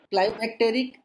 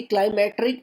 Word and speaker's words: climacteric: अब यहाँ पर इसकी स्पेलिंग देखो, क्लाइमेक्टेरिक एंड नॉन क्लाइमेक्टेरिक, ना कि क्लाइमेट्रिक नॉन क्लाइमेट्रिक, क्लाइमेक्टेरिक एंड नॉन क्लाइमेक्टेरिक, ये है ओरिजिनल।